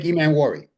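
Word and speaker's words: Emmanwori: Nick Emanwari.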